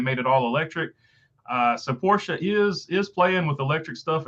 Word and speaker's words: Porsche: Yeah, the 911 is not a hybrid, but Porsche, I remembered to say it right there, Mark.